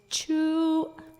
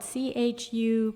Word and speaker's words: chu: goodbye is chu, and it's like CHEW, but it's actually, we didn't have a written language, but it's spelled CHU, glottal stop UE, so it's longer. It's like chu, and it kind of cuts off.